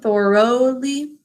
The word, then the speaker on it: thoroughly: The first syllable, Thor, like the Norse god Thor.